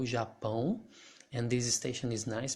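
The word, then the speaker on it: Japão: else have here japan that's how we pronounce japan in brazil japan and this station is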